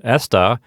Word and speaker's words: esta: Now keep in mind that the word esta has the accent on the first syllable, and está has the accent on the second syllable.